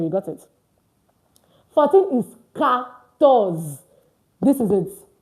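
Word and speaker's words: quatorze: It's pronounced ctors. So I know that French learners that speak English, we are tempted to say e. The qua is pronounced as c. So it is what? CS. C. ctors. So don't try to pronounce it the way you pronounce it English. Why? Because q ua is pronounced as cs is not queen. It's can.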